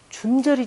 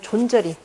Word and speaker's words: 존절: 준절이 좀 써라라는 말이 있죠. 준절이 또는 존절이. 우리 원래 원 발음은 존절이라고 쓰는 건데, 우리 그냥 동국의 소금으로 표현하고 그냥 준절하게 써라라는 말 안 들어봤네.